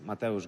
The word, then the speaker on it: Mateusz: My name is Mateusz Gamrot.